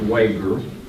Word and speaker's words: Wager: and it is pronounced Wager. It looks like it's wager, but it's a German family name. They pronounce it with a hard G.